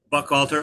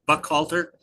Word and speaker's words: Buchalter: senior parallegal and certified eiscocovery specialist at uh Buck Halter. And and am I saying that correctly? I always wonder if I'm pronouncing it. Yes, you are. Buck Buck Halter.